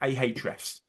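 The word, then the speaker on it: Ahrefs: access to things like ah refs that's spelled ah FS which is an SEO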